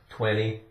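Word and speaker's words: twenty: Now, when we say the word 20, really we pronounce the t like a d. So it's going to sound like 20. Or we don't even really say the t.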